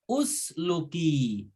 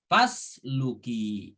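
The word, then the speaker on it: فاسلكي: Nah, kalau fa-nya dipisahkan, maka dibacanya usluki. Tetapi karena ada fa, gitu kan, maka alifnya disukunkan. Tidak dibaca harokatnya, langsung fasluki. Seperti itu.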